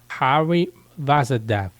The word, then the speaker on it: Hari Vasudev: 那内容是这样 Walmart 的首席技术官印度人 Hari Vasudev，我去查发音应该是这样念然后认为